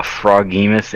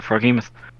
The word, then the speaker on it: Froghemoth: Because it's like Frog Behemoth.